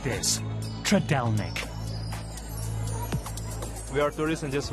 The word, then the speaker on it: Trdelník: You can also try it filled with cream and strawberries, but it's hard to pronounce. Trdelník? Trdelník? Yes. Oh. So it's something like this. Trdelník.